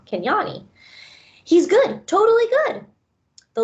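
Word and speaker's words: Kinyani: be back I tell Ivan I run to Kenya Kenya knee can Yanni sorry I keep saying that name wrong can Yanni he's good totally good the look of joy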